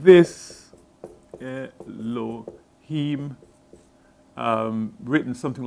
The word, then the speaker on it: Elohim: It would be, Elohim, like this. Elohim. Written something like that, pronounced like that.